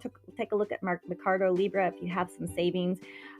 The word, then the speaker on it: Mercado Libre: It's Mercado Libre. I'll spell that for you.